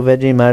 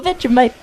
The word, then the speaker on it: Vegemite: You guys say Vegemite. We just say Vegemite. Vegemite. Because we say it the way that we would read it.